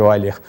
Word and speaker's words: Euler: Escreve-se Euler, mas pronuncia-se Euler.